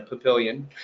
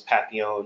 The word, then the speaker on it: Papillion: can go down to Papillion which by the way the first time I pronounced it was patio because I thought it was French in somehow I pronounced